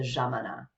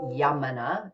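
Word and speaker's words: Yámana: with a y um yamana so jamanas is the pronunciation in Argentina because the Y is a j sound so the jamana um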